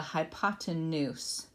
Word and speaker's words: hypotenuse: And then the diagonal line would be then called the hypotenuse. Hypotenuse is how you pronounce that.